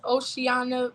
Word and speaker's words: Oceana: It's Oceana, but for the most part, you got it.